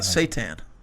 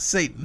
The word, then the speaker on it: seitan: What about seitan? Like the Lucifer? No, not Satan. No. That's what it sounded like. Seitan.